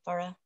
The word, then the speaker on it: Farah: dave thank you and farah or pharah i think is how you say it pharah yes it's fair uh affair i was right for some okay hello